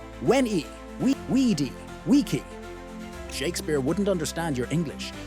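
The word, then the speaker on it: veni vidi vici: Most modern Latin pronunciations are Italianized, but scholars now know ancient Roman Latin had hard v sounds and rolled Rs. Veni vidi vichi sounded like when we weedy, wiki.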